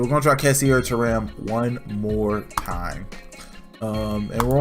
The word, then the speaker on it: Thuram: I'm pretty sure that TH is pronounced like a tuh, not a thuh.